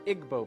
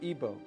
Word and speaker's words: Igbo: Africa you have the Igbo people or ebo pronounced either way there's 40 million of